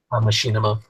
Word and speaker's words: Machinima: These guys from Machinima, how do you pronounce that, guys? Machinima.